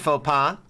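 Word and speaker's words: faux pas: Hard to let down that kind of faux pa. Did I pronounce that right?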